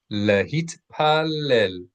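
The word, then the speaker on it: להתפלל: English speakers often drop T's at the end of syllables. Well, we don't realize we're doing it, but that's normal in English. So make sure that you pronounce the T's in Hebrew always.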